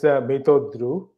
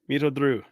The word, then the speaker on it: Mitradu: For some reason, I want to shift the R to and say Mitradu. I don't know why. So yes. So what would be the correct pronunciation of your name? It's Mitradu. Okay, Mitradu.